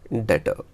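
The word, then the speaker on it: debtor: इसमें B word silent है, उसे बोलेंगे डेटर। गुड मीन्स गुड्स क्या होती हैं?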